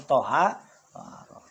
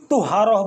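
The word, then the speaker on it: طهارة: Nah, tadi kan kita ngajinya kalau dibilang thaaharah pakai fathah th bacanya thaharah. Terus dikatakan di sini waharum ya. Dan adapun kalau semua kita tuharah. Tuharah itu apa? Kalau semua nyebut salah apa benar? Benar. thaharah bener, tuharoh bener, tiharoh bener, pakai domah, pakai fathah, pakai asroh.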